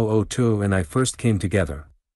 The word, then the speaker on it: Otu: Otu, he told me his name was, pronounced Otuo.